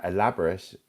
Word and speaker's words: elaborate: So, uh elaborate.